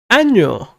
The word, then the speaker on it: año: So there's the letter ñ right there, and remember to pronounce that one whenever you write it. Because if you don't, it means something else.